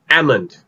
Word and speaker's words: almond: the news but actually that is the wrong way for pronouncing this word it's actually pronounced as ammond we pronounce this word as ammond well for this particular